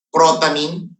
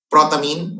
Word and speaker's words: protamine: protamine hagidorn let me repeat neutral kasi neutral protamine protamine Okay protamine p r o t a m